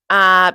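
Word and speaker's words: Yoo: Uh, it stars Greta Lee and Teo Teo U. Uh, T E O Y O. I'm pretty sure it's pronounced U.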